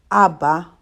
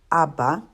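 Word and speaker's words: אבא: with another aleph so reading it from right to left you would pronounce that word abba abba okay that concludes lesson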